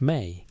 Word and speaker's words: me: The concept appears across Mesopotamian texts with a consistency of fundamental cosmology, me, pronounced may, in Akkadian, Peru, usually translated as divine decrees or divine powers, though neither translation captures the full sense.